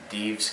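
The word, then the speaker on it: Dives: thanks this has been Dees for anyone who's interested my name is spelled D i VES and I don't think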